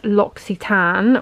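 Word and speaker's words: L'Occitane: a hand cream so this brand is actually pronounced loxitan which a follower very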